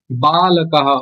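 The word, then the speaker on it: বালকঃ: এই যে বালকটা আছে না এখানে, বালকः এরকম না, কিন্তু এটা হচ্ছে বর্গীয় ব, তো বালকः অন্তঃস্থ বালকः, মানে বটা ঠিকভাবে উচ্চারণ করতে হবে, ওয়ার মতো নয়, বর্গীয় ব, বালকः।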